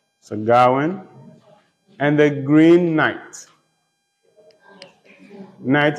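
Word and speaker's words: Gawain: entitled sir Darwin and the Green Knight sir gawan and the Green Knight segarwin and the Green Knight sir s-i-r Awan is spelled g a w a i n sagawan and the Green Knight night is spelled K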